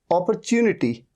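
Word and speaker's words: opportunity: तो यहां पर साउंड है ओ का, तो ओ हो गया।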